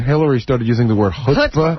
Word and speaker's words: chutzpah: It's chutzpah. Yeah, it's chutzpah.